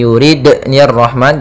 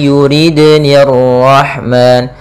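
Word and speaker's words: يُرِدْنِ: Kemudian pada lafal dal di sini ada qalqalah, yaitu cara membacanya jangan i yuridni rahman, jangan ada tambahan hamzah, tapi dia i yuridni rahman, yuridni, nah seperti itu.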